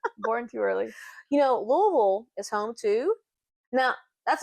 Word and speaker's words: Louisville: You know, Louisville is home too. Now, that's another thing. How do you pronounce? It's Louisville, not Louisville. We say Louisville.